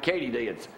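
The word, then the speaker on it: katydid: well Frank get ready that's the way you pronounce it and Frank ktie DS all right says here USA Today a big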